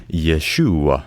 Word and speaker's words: Yeshua: Jesus' name in more Hebrew would be pronounced Yeshua.